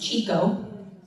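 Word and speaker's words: Tjikko: So, that's pronounced Chico.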